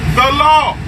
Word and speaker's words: Gullah: Gullah, the proper way to pronounce Gullah is the law.